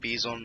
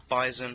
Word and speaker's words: Bizon: yes it is pronounced beison not bison for any of you guys out there who are pronouncing it bison it's bison is a Russian submachine gun so that's the way it's pronounced anyway straight to the